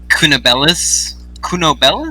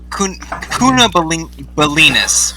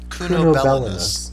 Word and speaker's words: Cunobellinus: I'm not entirely clear on last session, but I believe that Mirielle Cunobellis, something like that. What? Cunobellinus. Was that it? Wow. Cunobellinus, first of all.